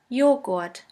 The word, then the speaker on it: Joghurt: The letter J is pronounced like the Y in the word yogurt. The German translation for yogurt is Joghurt.